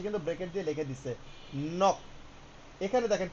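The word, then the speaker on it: 넋: পাশে কিন্তু ব্র্যাকেটে ওর উচ্চারণ বানানটা হচ্ছে এরকম উচ্চারণটা কি হবে পাশে কিন্তু ব্র্যাকেট দিয়ে লিখে দিছে নক এখানে দেখেন কি লিখছে আন জিয়ত দা এখানে জিও হবে না প্রথমটা আমরা ধরবো তাহলে কি হবে?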